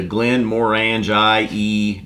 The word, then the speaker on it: Glenmorangie: and cask to coin in front of the glenmorangie distillery I pronounce that Glenmorangie very good when given time